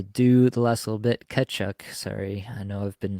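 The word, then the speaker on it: Tkachuk: the last little bit cchuck sorry I know I've been chastised by the by the online commenters for my pronunciation but um the the t is silent mate yeah the reduction in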